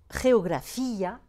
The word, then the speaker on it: geografía: Ou encore, vous voyez ici, historia, pas de diérèse, geografía, diérèse, accent sur le I.